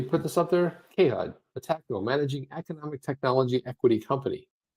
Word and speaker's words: Metaco: So Chip, the correct pronunciation of Metaco, you put more stress on the first syllable. It's Metaco.